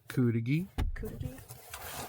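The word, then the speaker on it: cudighi: I got Kudigi, which is like that's how they sausage.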